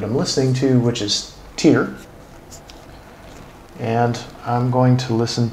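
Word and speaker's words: Tyr: So Tear, T-Y-R, and I'm assuming that I'm hopefully pronouncing that right.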